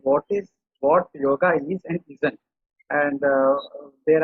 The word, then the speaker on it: yoga: So in Hindi, you pronounce it as yog, but in Sanskrit, it is pronounced as yoga. It is not yoga, it is yoga. So the correct word is yoga and not yog.